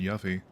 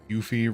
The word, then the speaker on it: Yuffie: Then I got been pronouncing Yuffie phonetically for years. Yuffie to rhyme with Buffy. Yeah, I think as far as I'm aware, I've always pronounced it Yuffie.